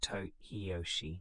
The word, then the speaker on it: Hideyoshi: Nobunaga was assassinated in 1582, but his work was continued by his most capable general, Toyotomi Hideyoshi, pronounced Hideyoshi.